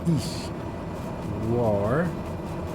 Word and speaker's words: Ishwar: breakdown like ish rhyming with leash ish war not like war were ish almost soft almost like war and then d like t I like I mean